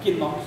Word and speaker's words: Knox: John Knox, no inglês o cara não é pronunciado, tá? É Knox, não é Knox, é Knox.